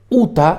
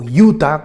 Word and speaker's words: Utah: El estado de Utah, o Utah, como lo pronuncian en Estados Unidos, es un estado muy particular.